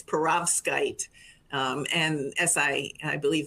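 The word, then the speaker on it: perovskite: bottom cells of a parasite si tandem to study current matching? Again, apologies. No, I completely understand that's can be a tough word to pronounce. It's peravkite.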